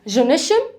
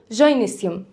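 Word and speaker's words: gynoecium: بنطقين اندريسيوم او اندريشم نفس الكلام هنا جونشم او جينسيوم خلاص يبقى احنا هنا اتكلمنا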